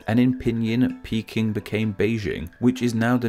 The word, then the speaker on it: Beijing: In Chinese, this city's name has always been pronounced as Beijing.